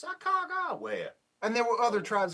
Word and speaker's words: Sacagawea: her name for you, Sacagawea. Thank you. It has a g sound in the middle. It's not a soft G with a j. It's a g.